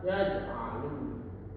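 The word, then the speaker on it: يَجْعَلُ: berharakat sukun maa maka dibaca dengan qalqalah suhro, yaitu dengan cara dipantulkan secara ringan atau tipis. Contohnya yaj'alu.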